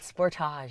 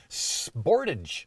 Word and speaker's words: Sportage: say sportage i did sportage that's the way that kia pronounces their compact suv in canada sportage in the states they call it sportage sportage but it's the